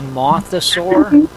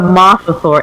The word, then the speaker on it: mosasaur: this a mothosaur? the mosasaur, M-O-S-A Mosasaur. saur. Okay. Mosasaur. Okay. That's how I spell it.